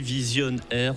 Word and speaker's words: Vizion'R: Et alors, si j'ai bien tout compris, Vision Air s'écrit s'orthographie V-I-Z-I-O-N apostrophe R. Vision Air comme radio. Air comme radio, exactement.